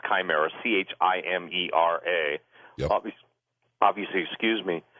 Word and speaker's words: chimera: but the word chimera, some people pronounce it chimera, pronounce chimera, chimera.